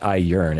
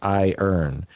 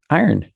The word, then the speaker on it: iron: No, it's not I yearn. It's I earn. So I would go AIERN. Maybe a dash. AI dash ERN. Iron. But well, it's not I yearn. But it's just a syllable thing.